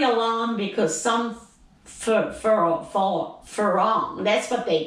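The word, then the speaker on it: farang: people who aren't thai it's actually spelled f-e-r-a-n-g but because thai people can't sometimes can't pronounce us they call it they make it into an l and they say for long so some for long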